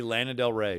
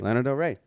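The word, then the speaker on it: Lana Del Rey: That would be Lannard del Rey. Lana Del Re.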